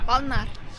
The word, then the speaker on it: Balna: Balnar. 만날? 발? Balnar. 발날. Very difficult pronunciation.